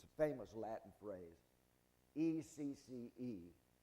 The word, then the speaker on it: ecce: And Pilate said unto them, now it's a famous Latin phrase, E-C-C-E, pronounced ecce, and H-O-M-O, homo.